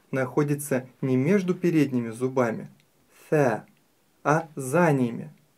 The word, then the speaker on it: ث: и три точки сверху Теперь давайте научимся правильно произносить букву С буква са так называемая межзубная буква са это потому что кончик языка расположен во время произнесения между передними зубами - это мягкий звук